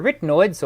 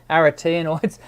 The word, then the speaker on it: arytenoids: pieces of cartilage here these are your arytenoids or aratinoids depending on how you prefer to pronounce it and the membrane that